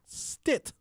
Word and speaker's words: Stitt: care review board director carol stitt which rhymes with tit and